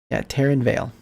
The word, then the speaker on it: Taryn Vale: Taryn, yeah, Taryn Vale, like tearing a veil.